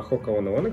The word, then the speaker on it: Hoka One One: Да, читается именно так, не One One, а Hoka One One, кто не знал.